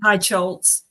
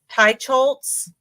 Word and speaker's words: Teicholz: How do you pronounce her name? Teicholz. Teicholz.